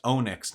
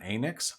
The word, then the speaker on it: Onyx: By the way, my name is pronounced Onyx, not Anix.